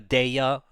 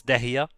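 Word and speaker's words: Dehya: I don't shit on people for calling Dehia in Genshin, for calling her Deya or Dia. You know, it's... For anyone that cares, it's Dehia.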